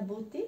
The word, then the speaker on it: beauté: Donc, ici, je dis la beauté parce que E-A-U, c'est un O en français. Il est un petit peu plus long que le O. O, la beauté, la santé et la réalité.